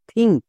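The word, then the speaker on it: think: জন্য কো তাহলে টি এইচ আই এন কে থিংক এখানে কিন্তু টি এইচ এর জন্য দো উচ্চারণ হয়নি কেন সিম্পল নিয়ম এরপরে ই নেই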